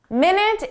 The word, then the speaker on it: minute: Minute is our time reference, 60 seconds. You know how to pronounce that. Minute. But there's an adjective, minute. Minute. Minute means very small. So notice how it describes the details, very small details.